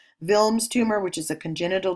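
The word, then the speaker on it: Wilms: the other types are vilms so it's it's pronounced with a V not with a W vilms tumor which is a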